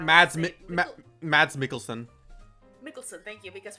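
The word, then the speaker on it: Mikkelsen: name Matt Matt's mikkelson mikkelson thank you because for the longest time I called him melson mat melson and a brief appearance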